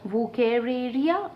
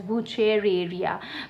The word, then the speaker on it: Wuchereria: It could be term either ways, that is Wuchereria, or it could be either pronounced as Wuchereria. Fine, either one you can use.